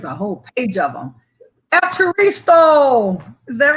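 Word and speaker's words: ευχαριστώ: Evcharisto.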